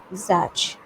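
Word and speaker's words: Czech: अब देखो ज़ैच it this C would be silent, it will be pronounced eight ज़ैच company formerly known as Greysoft.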